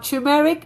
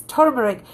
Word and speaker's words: turmeric: it's called as turmeric it's not tumeric it's turmeric if you're taking turmeric